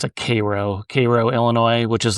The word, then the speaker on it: Cairo: So I had gone to, they pronounce it Cairo, Illinois, which is like this, it's famous for just being like basically a ghost town now.